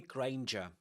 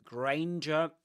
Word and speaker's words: Granger: And yes, it's Hermione Granger. Hermione Granger, guys. Hermione Granger. Granger rhymes with um ranger.